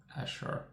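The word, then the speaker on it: Azure: 24% year-over-year amazing driven by Asha they call it's spelled a a cur e He said u so Ashure Ashure cloud just Google it and you will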